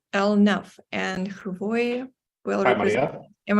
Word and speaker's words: Hrvoje: And Hrvoje will Hi, represent. Maria. Am I pronounced correctly? Yes, you do. Yeah. The stage is yours. Okay, let me just. Okay, so my name is Hrvoje, and I'm from Croatia, and we develop system